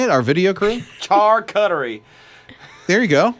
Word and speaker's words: charcuterie: know how to say it our video crew car cuttery there you go charcuterie okay sorry barney okay well hey you can